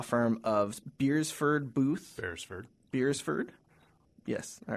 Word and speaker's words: Beresford: at the law firm of beersford Booth beersford beersford yes all right I said it right uh